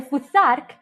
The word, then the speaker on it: Futhark: As you can see, the first letters of the alphabet are f, u, th, a, r, k. If you pronounce it all in one go, it's Futhark.